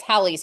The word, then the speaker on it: Halley's: of a comet, is Halley's Comet. Some people say Haley's Comet. We don't actually know how he pronounced it. Astronomers tend to say Halley's Comet, so that's what I'm going to say.